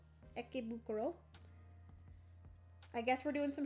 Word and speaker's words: Ikebukuro: It says on the card how to pronounce it. Ikebukuro. Ikebukuro.